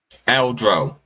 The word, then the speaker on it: Eldro: Eldro.